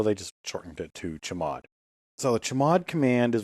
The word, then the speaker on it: chmod: CH hm o d it's usually pronounced chamod what in the world's a chamod what does chamod mean chamod is short for change mode you may remember